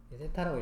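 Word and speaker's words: θ: 근데 원래는 중심각의 크기를 알아야 되니까 요 세타를 알아야 되는데, 세타라고 읽으시면 되고요.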